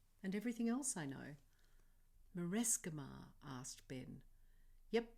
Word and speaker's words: Marescimar: MA for magic and mathematics, RE for respect and religion, and SC for science, although in the word Marescimar we pronounce the SC like the S and K in Sky's name.